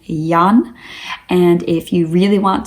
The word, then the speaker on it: Jan: that it's not pronounced Jan, that it's pronounced Jan, it's kind of similar to John.